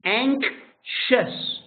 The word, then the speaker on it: anxious: Anxious. You have a K like kit, and you have a sh like shirt, like wash.